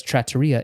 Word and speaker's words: trattoria: But he says trattoria in the show, so I've confirmed this is the correct way of pronouncing it.